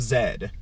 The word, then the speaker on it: Z: lost city of Z well in most European nations they actually pronounce z as Zed right it's just a